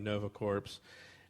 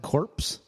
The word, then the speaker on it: Nova Corps: then they're taken to is it how you pronounce that word corpse corpse core this core Nova Corps this is Nova Corps yeah those corpse if you lived your entire life that you met cor p is corpse may be continued wait